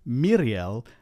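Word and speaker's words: Míriel: more important is that where you have a vowel before the R, don't let the R change the quality of the vowel. Pronounce the vowel like you normally would. And so it's Miriel and Isildur, where the E and the U keep their sounds even though they're followed by the R.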